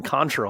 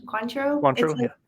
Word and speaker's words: Cointreau: it instead of tequila you're over here talking contra i'm like vodka isn't that how you say it quantum cointro it's the orange liqueur yeah did i get that right okay you nailed it yes hey where's your